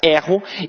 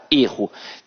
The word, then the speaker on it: erro: dele vai dizer que o verbo tem a pronúncia aberta erro e que o substantivo tem a pronúncia fechada erro Tranquilo então a língua